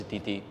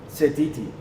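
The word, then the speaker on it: Sititi: He hasn't had as big an impact as Wallace Satiti. So I'm going for Satiti. Who's Titi? What? Wallace Satiti. Is that how you pronounce his name? Setiti.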